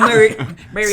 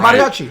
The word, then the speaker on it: Mariachi: No, El Mariachi. Say it right. Mariachi.